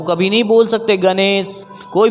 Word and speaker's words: गणेश: गणेश क्या बोलेगा गणेश क्योंकि इसका उच्चारण होता नो नहीं हो करके मूर्धन्य मुर्दा मैं आपको जीव को टच जुआ को टच करना होगा बोलना होगा गणेश गणेश गुणवान क्या बोलेंगे गुरबाणी